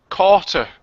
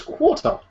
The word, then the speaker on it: quarter: i've noticed recently is certain people pronounce quarter carter it's something i never realized up until last year carter yes no it's quarter yeah surely hasn't caught